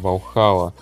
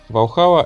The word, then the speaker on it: Valhalla: И наконец, четвертой представленной новинкой стал Aston Martin Valhalla. Я не был уверен в правильном произношении, поэтому мне пришлось посмотреть видео на YouTube. А на канале Supercar Blondie ударение определенно падало на второй слог.